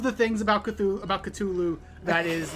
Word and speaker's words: Cthulhu: isn't true I just think that's funny it's pronounced culu oh there that that thing that was it